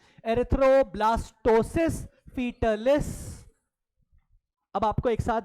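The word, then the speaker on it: erythroblastosis fetalis: बीमारी का नाम है एरिथ्रोब्लास्टोसिस फिटलिस।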